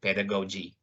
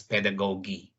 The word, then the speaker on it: pedagogy: go to pedagogy yeah you heard me right pedagogy or can be pronounced as pedagogy there are those are the two ways to read the word pedagogy and pedagogy and going back to